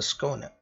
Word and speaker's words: Skåne: this is this now after I google it it's like this corner oh yes this ship is called the schooner alright so I'm going